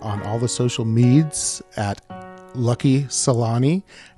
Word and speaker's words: Salhani: she is is he Salani do i get it close so close you're there you're pretty much there there's the H is actually silent in French so don't pronounce it I'm like yeah why